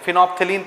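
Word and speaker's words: phenolphthalein: एल ई आई एन फिनोफेनल हैं बहुत सारी चीजें साइलेंट होती है बीच में दूसरा है मिथाइल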